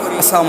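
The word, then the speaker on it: السلام: ইনশাল্লাহ হ্যাঁ এক নম্বর ভুল হইলো আমরা অশুদ্ধ সালাম দেই এই সালামটাকে শুদ্ধ করা দুই নম্বর আরেকটা ভুল হইলো আমরা সালাম প্রদান করি আসসালামু আলাইকুম খুব সংক্ষিপ্ত আকারে খুব সংক্ষিপ্ত আকারে সালাম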